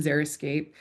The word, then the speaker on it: xeriscape: Then we have xeriscape, the actually correctly pronounced term, xeriscape, which is, I believe, a trademarked term just